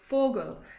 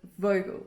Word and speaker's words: Vogel: important to know so v is pronounced with an f sound so you'd say fogel instead of vogel an f you both